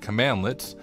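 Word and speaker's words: cmdlet: also provides access to command links pronounced commandlets which are net classes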